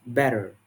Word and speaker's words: better: So, in general American English, the t sound between vowels often becomes a flap, sounding like a quick d. For example, better is pronounced better, better, and this is